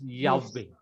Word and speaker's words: Yahweh: Last time I told you ignore the vowel pointing under the Yod He Vav He. You have to pronounce it Yahweh, which I have shown you. This is the proper vowel pointing is Yahweh.